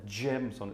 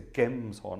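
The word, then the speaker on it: Gemshorn: It's not a gems horn, it's a Gems horn, a hard G.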